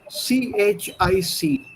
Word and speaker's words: chic: of the french word c-h-i-c now in um it's pronounced in the french way chic c-h-i-c and the